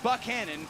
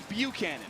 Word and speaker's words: Buchanan: Coach Buck told us he says Buchanan, but his wife says Buchanan. To me, that says there is no wrong answer, but if Coach Buck says Buchanan, I'm going to say Buchanan.